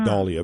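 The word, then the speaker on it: dahlia: it isn't it wasn't his name wasn't Mr Dale it was Mr doll so it's dollia Brian Minter of course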